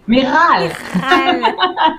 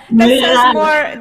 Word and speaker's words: Michal: I told her my name is not with an R, but she said, yeah, this is how I pronounce your name, Michal. Michal. Michal. That's more Hispanic now, Michal.